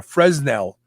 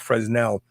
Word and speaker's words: Fresnel: prisms they were called fresnel um or fresnel i don't think the s is i think the s is silent so what you're doing